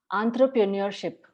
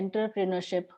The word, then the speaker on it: entrepreneurship: Both of them are correct, but this word has come from French. So French en ಗೆ an ಅಂತ pronounce ಮಾಡ್ತಾರೆ. Entrepreneurship is a correct pronunciation, but you can also say entrepreneurship.